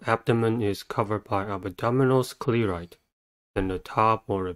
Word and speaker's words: sclerite: The next word is sclerite. Sclerite has two syllables and the stress is at the first one.